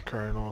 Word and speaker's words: Colonel: Team Colonel, it's pronounced Colonel.